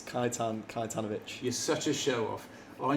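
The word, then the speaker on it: Kajetan Kajetanowicz: in car number three Jack how do you pronounce his name it's kaitan kitanovic you're such a showoff I knew he would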